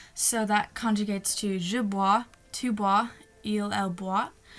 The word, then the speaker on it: bois: and then you're like, oh, I think it's bois, B-O-I-S, and then you're like, okay.